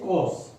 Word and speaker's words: coarse: The first word for today is coarse, C-O-A-R-S-E. R is silent in this word.